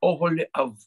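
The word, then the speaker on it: אהליאב: Например, имя Оголи Ав. Под буквой Алиф Камац – это Камац-Кацар, который читается О, а не А.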